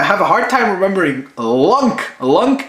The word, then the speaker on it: Lunk: I always think it's flunk or I always think it's lung like lungs like human lungs and I'm like I don't know why I have a hard time remembering lunk lunk it's like link